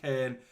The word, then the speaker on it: Köln: I read it as Cologne, but it's pronounced Köln.